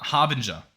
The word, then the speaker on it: Harbinger: me just double check real quick um har Harbinger that's how it's pronounced as well thank you for the comments